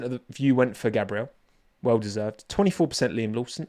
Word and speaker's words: Gabriel: 47% Gabrielle Borletto. That is how it's pronounced, right?